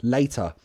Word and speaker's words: later: So Mohammed Elo, the pronunciation layer, later. If someone uses the glottal T for later, it could sound like layer, later, but you can still hear the stop in the throat.